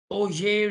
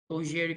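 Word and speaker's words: Auger: third one is called oj recombination and we pronounce this oj but uh anyone taking french ogeri combination so we're going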